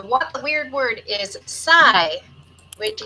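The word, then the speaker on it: psi: It refers to the 23rd letter of the Greek alphabet and is pronounced sigh.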